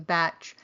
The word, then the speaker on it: Bach: center in the UK they still continue to use the pronunciation batch but they also accept both pronunciations as being acceptable when